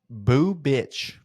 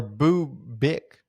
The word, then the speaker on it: Bubic: AI overview says Chris, last name, is pronounced Boo Bitch or Boo Bick, technically.